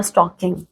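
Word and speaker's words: stalking: They are स्टॉकिंग। ठीक है? और हां भाई स्टॉकिंग की स्पेलिंग होती है एस टी ठीक है ए एल के आई एन जी जिसमें एल साइलेंट होता है ऐसा मैं क्यों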